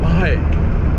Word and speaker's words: bhai: I was like, no, I'm saying bye. But it's hard because you gotta like let the H play out, right?